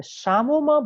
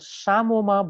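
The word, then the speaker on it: psammoma: And one very important finding is the Samoma bodies are very frequently present there. This is called Samoma body. P is silent here.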